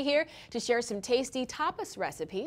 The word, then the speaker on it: tapas: the the Tois because a lot of people mispronounce it first and foremost topus yeah it's topus right it's to us to you want to